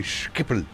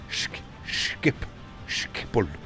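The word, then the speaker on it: Schiphol: You can never pronounce, you have to say Skippel. Skippel.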